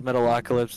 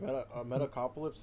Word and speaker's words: Metalocalypse: So is Metalocalypse and so is the Venture Brothers. Dude, Metacopolis is tight.